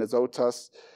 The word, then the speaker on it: Azotus: It would be the pronunciation Azotus.